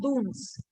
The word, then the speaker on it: Dun: It is known as dunes. It is pronounced as dunes.